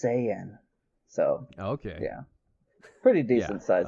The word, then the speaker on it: Saiyan: Saiyan, and my wife didn't know how to pronounce it. So, yeah, I'm a pretty big anime fan. Sand? Saiyan.